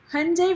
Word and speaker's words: Hyundai: curtains and don't enter but Hyundai rhymes with Sunday exactly broken reseller right